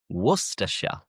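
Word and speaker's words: Worcestershire: England end in shia but the shy is pronounced as sha. For example, Worersha, Worersha, Glostershure, Glostershure, Leersha,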